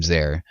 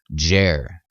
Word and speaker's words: Djer: Yes, there is a king by the name Zair, but its anglicized version is spelled out Jer or Djer, and so the Egyptologists say, at least.